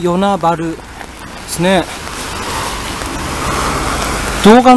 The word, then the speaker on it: 与那原: 町てかさー与那原って言いますけど花岡ルって読むのは九州とランチですよね大きなもの九州の一つなんですけどねぇ昨日県の地名の読み方って独特ですよね原は春ってよ無視しろは部